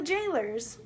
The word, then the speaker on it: gaoler: And yes, G-A-O-L-E-R, the way that this is spelled in the title is the way that it's spelled in the folio. It's a jailer.